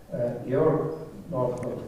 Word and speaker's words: Georg Northoff: And I am extremely honored to have as a speaker at our seminar today Professor Georg Northoff, or Georg Northoff, which will be a proper German pronunciation of his name, because Georg is originally